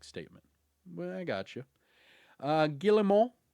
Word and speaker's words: Guillemot: During that call, the Ubisoft CEO, I'm going to try to not say the T this time, Guillemot, there, I think I said it right that time, said that the group